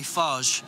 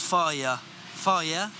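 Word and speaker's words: Fage: the yogurt of choice i say farge and it pisses people off even though it's pronounced fire fire josh josh richmond put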